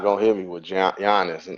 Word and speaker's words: Giannis: I was gonna say a lot of people pronounce his first name wrong. Yeah. Giannis.